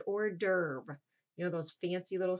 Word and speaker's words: hors d'oeuvre: Fallacy, number 8, this word that looks like horse d'oeuvre, that is hors d'oeuvre.